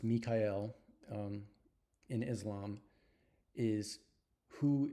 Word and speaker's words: Michael: translation of my name Michael uh pronounced Mikael um in Islam is